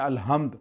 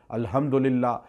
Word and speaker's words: الحمد: لیے۔ آپ کہتے ہیں الحمد، اکثر لوگ تلفظ ادا نہیں کرتے، ہا نہیں کہتے، ہے کہہ دیتے ہیں الحمدللہ، اس کا معنی چینج